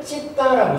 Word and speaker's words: citta: 요때 이제 파일리오르는 심을 찢다라고 써요. 요게 CITTA인데 요게 영어식 발음하고 좀 달라요.